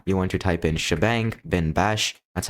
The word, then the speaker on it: shebang: Now you want to type in shebang bin bash. That's how you pronounce this thing by the way. This is a hashtag and this is a bang. So we call them shebang.